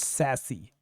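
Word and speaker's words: SASE: our website what is sasc which is pronounced as sassy actually it is a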